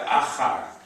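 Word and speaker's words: אחר: So we have vowels looking like this to Patach. So just like we had Tachat, we have Achar. Achar. Achar. Achar.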